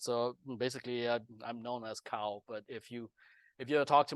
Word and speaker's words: Kao: If you really pronounce my correct name, which I'm gonna maybe mention on later on too, but if you pronounce a Hmong, it's Gao. Gao with the G, and it's basically G-A U or GAO instead of KAO.